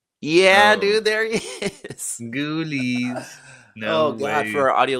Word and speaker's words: Ghoulies: producer, can you find us the photo of the movie Ghoulies and drop that on the screen? How do you spell that? Ghoulies. Ghoulies. Uh G H O U L I E S. Like ghouls.